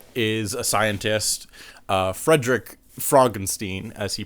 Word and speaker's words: Frankenstein: So, the main plot is it's about Frankenstein's grandson and he is a scientist, uh, Frederick Frogenstein, as he pronounces it.